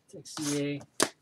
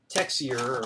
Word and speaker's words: Tessier: Tessier. Pronounce it. I was pronouncing it Texier or something when I first saw his name, and I'm like, that ain't right.